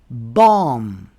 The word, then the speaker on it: bomb: Rule number 3. The B is silent after M at the end of a word. For example, we don't say comb. We say comb. Thumb. Climb. Bomb.